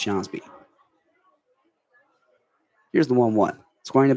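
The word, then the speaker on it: Skjonsby: That's somehow pronounced Jsby.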